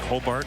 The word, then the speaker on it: Hobart: and high schools pronunciations h-o-b-a-r-t looks like Hobart Hobart that's what the locals say yes two balls two